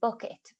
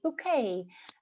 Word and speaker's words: Bucket: that kind of and really her surname was mrs bucket but you know she pronounced it bouquet and so that's where